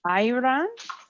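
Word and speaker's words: ayran: yogurt drink Aran and that's a y r a n Iran maybe might be a better way to pronounce it cuz it's got the Y her energy and talent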